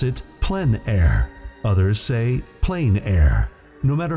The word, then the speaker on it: plein air: which means open air or outdoors the French pronounce it plenary plein air no matter how you say it there is